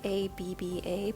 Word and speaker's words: ABBA: And it's actually a BBA, but phonetically, ABBA hits the nail on the head.